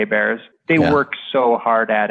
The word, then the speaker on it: Baer: Jay Baer books and they bear and bear is spelled BAE er yep so you and